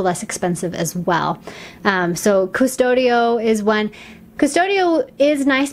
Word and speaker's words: Qustodio: So another parental control app that is very popular is called Qustodio. It's with a Q, like Qustodio. It's kind of a hard one to pronounce.